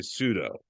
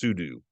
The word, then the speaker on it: sudo: command Pudo or Pudu I like to say pseudo but I believe the correct pronounciation is sudu either way I will